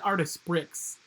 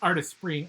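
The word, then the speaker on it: Artesprix: es p RI ex art it looks like artists bricks but it's pronounced artists free Anna or you can just type go to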